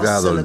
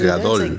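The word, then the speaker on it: גדול: significa grande está bien Ahora en hebreo el énfasis suele ir en la última sílaba Entonces no dices gadol dices gadol en hebreo también puedes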